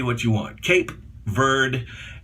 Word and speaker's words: Cape Verde: say what you want cape bird actually would be proper cape verde when some people would